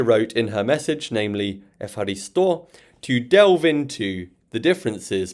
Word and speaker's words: ευχαριστώ: So that's why this would be ευχαριστώ, with the stress on the o at the end.